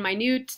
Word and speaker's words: minute: For example, minute and minute, different pronunciations, same spelling, different meanings. So a minute is a unit of time, minute refers to something that is very small.